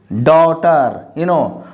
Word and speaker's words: daughter: So here is daughter. So here is do plus tar, daughter. So GH is silent because GH is usually silent after a vowel sound.